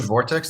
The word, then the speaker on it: Vort8x: Vortex eight X Vortex you pronounce it Vortex it does have an eight instead of the E so v o r